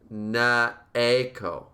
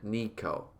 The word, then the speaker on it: Neko: They want you to say, Neko. Neko. Oh. Vib says, oh, lol, it's more like Neck-o than Nico.